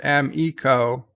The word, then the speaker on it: Amico: sold on the new amico pronounced m eco for bird and those